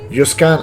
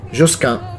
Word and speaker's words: Josquin: Josquin è la pronuncia latina, Josquin è la pronuncia francese.